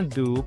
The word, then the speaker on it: do: La primera palabra se pronuncia do porque la O se pronuncia U, como tú.